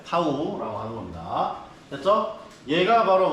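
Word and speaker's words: tau: 네, 읽을 때는 타우라고 발음합니다. 타우.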